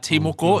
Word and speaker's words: Timoko: So Timoko is the Timoko. correct pronunciation of Matt Timoko.